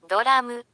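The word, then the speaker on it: ドラマ: mieć pewną wątpliwość poważną, czy faktycznie to pierwsza sylaba w tym słowie wysoka, czyli na wysokim tonie.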